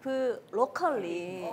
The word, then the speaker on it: 브로컬리: 브로콜리가 아니라 브로컬리.